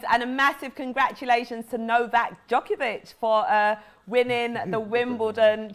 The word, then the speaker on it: Novak Djokovic: thank you james and a massive congratulations to novak djokovic for uh winning the wimbledon championship are you laughing at the way i pronounced that ty no no no no no